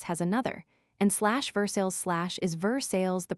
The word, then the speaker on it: Versailles: /Havre de Grace has another, and /Versailles/ is Versailles the pronunciation of salt, as in /Saltstee.